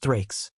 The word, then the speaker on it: thraex: The thrix, the thraex, pronounced thrikes, represented Rome's most famous conquered enemy.